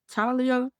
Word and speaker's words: Thalia: So the first half focuses on a couple named Arthur Winichowski and Talia Winichowski. So Talia is spelled Thalia, but it's pronounced Talia.